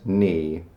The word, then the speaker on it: knee: Kind of like with the word knee. It's not knee, it's just knee.